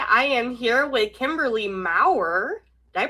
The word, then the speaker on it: Maurer: I am here with Kimberly Mauer. Did I pronounce it right?